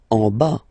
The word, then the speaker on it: en bas: En bas. Final S not pronounced.